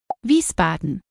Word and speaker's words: Wiesbaden: biggest cities in hissen and here's how you pronounce them mine Wiesbaden kaseer darmstadt of mine